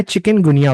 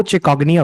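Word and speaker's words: chikungunya: चलो तो सबसे पहला वायरस जो हम यहां डिस्कस करने वाले हैं वो है चिकनगुनिया वायरस। इसकी जो रियल प्रोनाउंसिएशन है ना वह चिकग्निया वायरस है।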